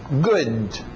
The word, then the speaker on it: good: Então, sozinho eu vou dizer 70% good. Para no D, mas diz o D um pouquinho good.